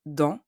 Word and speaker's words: dans: In the word dans, like in other words ending with an S, we don't pronounce it. We say dans.